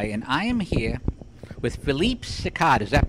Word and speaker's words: Philippe Sicard: Hi, this is Pete the Tech Guy, and I am here with Philippe Sicard. Is that pronounced right?